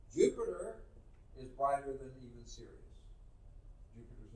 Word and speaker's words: Sirius: that we see is Sirius. Are you serious? No, this is spelled S-I-R-I-U-S.